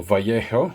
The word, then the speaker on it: Vallejo: just regular airbrush thinner from vallejo again or vallejo as it should be pronounced so just moisten the lens cloth so